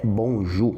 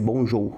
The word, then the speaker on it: bonjour: E a principal expressão pro bom dia do francês é bonju. Muita atenção na pronúncia do ou U. É o nosso Ugu. Bonju. Bonju, não vai ser bonjou, bonju.